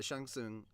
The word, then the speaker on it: Shang Tsung: sang sang soon yeah Shang Tsung I know how to pronounce his name correctly I'm not going with that American butchering but yeah Shang soon he the original actor